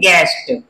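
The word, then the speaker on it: guest: जी यू ई एस टी, इसमें you silent रहेगा, इसको हम कैसे पढ़ेंगे? गेस्ट, गेस्ट।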